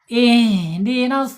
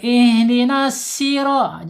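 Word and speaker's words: اهدنا الصراط: Ihdinas gitu ya. Ihdinasi. Shya harus tebal ya karena pakai shad. Jangan pakai sin. Enggak boleh ihdinasiro.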